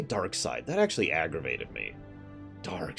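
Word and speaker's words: Darkseid: I have to admit I've never liked darksied because that's how I pronounce it they say dark side that actually aggravated me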